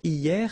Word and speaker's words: hier: Hier means yesterday, okay? Hier. So remember, this H here is not pronounced, okay? So hier.